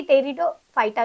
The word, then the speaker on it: Pteridophyta: हमें देखना है कि टेरिडोफाइटा जो होता है हां one more thing it starts from the पी but pronounce from the टी क्योंकि पी और टी साथ में प्रोनाउंस नहीं किए जाते ओके सो टेरिडोफाइटा क्या